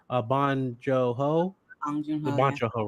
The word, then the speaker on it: Bong Joon-ho: I'm going to make sure I pronounce his name right. Bong Joon-ho.